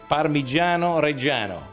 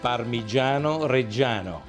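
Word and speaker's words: Parmigiano Reggiano: Pino is very old parano reano don't call parmeson please because parmeson is a different product is an American imitation of parano reano parano reano is only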